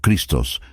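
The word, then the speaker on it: Χριστός: La clave de esta frase, «Yo soy el Cristo», se pronuncia en griego como «ego eimi o Christos», «ego eimi o Christos». El término Christos se deriva del verbo griego krio, que significa ungir.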